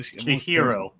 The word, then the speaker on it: Chihiro: I'm Chihiro. Chihiro. Yes, hero, yeah.